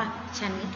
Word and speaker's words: ชนิด: ต่อ ไป นะ คะ เรา สังเกต ดู ซิ คำ ว่า ชนิด ของ เหมือน กัน นะ คะ เรา ไม่ อ่าน ชนิด ใส่ ไป เรา ไม่ ใส่ นะ คะ เรา ก็ อ่าน ว่า ฉัน นิด เลย นะ คะ หมาย